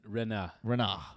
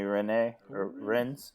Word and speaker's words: Rennes: Rennes. It's French, so you assume they don't pronounce the last syllable.